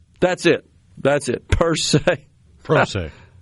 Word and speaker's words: pro se: Pro se. That's it. Per se. Pro se. Spell it.